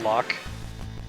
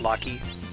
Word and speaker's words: Locke: I didn't pronounce it Locke. I didn't know about like John Locke. I pronounced it Lockie.